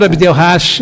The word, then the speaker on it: Abdel Hach: É Rash, é isso? Rash, né? Sim, Professor Abdel Rash, geólogo, geotécnico, especialista em